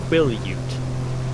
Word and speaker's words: Quillayute: So like first syllable is quill.